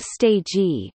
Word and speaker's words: stegi: The so-called Oikostegi, Greek Oiko, pronounced eco, meaning building ecological, and stegi, pronounced stegi, meaning roof abode shelter, was inaugurated in September 2008.